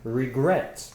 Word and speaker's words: regret: last of us about regret exactly regret has two syllables regret this dress is on great the last one and it ends consonant